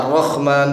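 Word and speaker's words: الرَّحْمٰن: Adapun kalau misalnya membaca Ar-Rahman pakai kha itu enggak merubah makna. Ya merubah makna kalau jadi kha.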